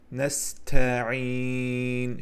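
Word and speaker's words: نستعين: T harfiyle bağlı dikkat edirik. T harfiyle del harfinin məxreçleri birbirine yakın olduğuna göre bazen telaffuzda bunlar karıştırılır. Nesta'in şeklinde telaffuz olunur. Dikkat etmeyen de böyle bir xəta baş verir. Ona göre onun Hərfin sifətinə xüsusilə diqqət edirik. Nəstə'in şəklində tələffüz edirik.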